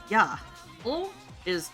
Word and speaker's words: Yaoi: Now, if you break it down into how it's pronounced in Japanese, 8 is ya. O is O.